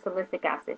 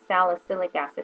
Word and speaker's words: salicylic: i wanted to use a salicic acid which salicic acid is more for someone with oily skin and had and is prone to breakouts is what um salicylic acid i'm saying it wrong salicylic acid is for this is